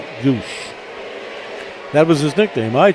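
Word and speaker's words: Gwodz: G W O D Z pronounced Guush.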